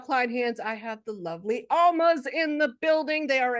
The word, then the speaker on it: Almas: The Almas.